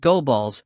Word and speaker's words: Gobles: end up like Gobles he pronounced It Go balls to rhyme with the Diddy what's it looking like